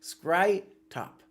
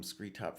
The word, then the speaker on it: Scrytop: Screetop is pronounced scry and rhymes with cry pop. Scry-top. Okay. I've been calling him Screetop for years.